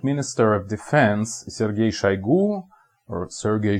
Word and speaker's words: Shoigu: enough the current minister of defense is Sergey shaigu or Sergey shoigu or whatever you want to pronounce it in English was one of the